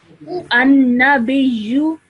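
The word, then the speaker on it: النَّبِيُّ: Okay, so normally in continuation, I would read this as an-nabiyyu. An-nabiyyu. Excellent. Okay, so you join the ba to the ya with a bit of force because of the shadda.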